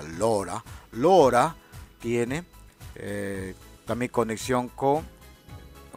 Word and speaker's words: Laura: Y Laura, en este caso sería Lora, se pronuncia Lora.